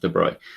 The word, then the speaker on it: de Broglie: planck's constant so sometimes you will see the de bruy really by the way that's um obviously spelt broccoli but it's it's pronounced de bruy so um you'll sometimes see it written as